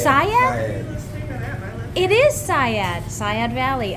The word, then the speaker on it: Seiad: Oh, it's Seiad?